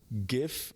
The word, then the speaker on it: GIF: Now, GIF is an acronym, Right. and the first word is graphical. So Starts with a G. hard G. Yeah. Yeah, and spelled with a G too. Yeah. The creator pronounces it GIF. So, the dictionary says that both pronunciations are correct.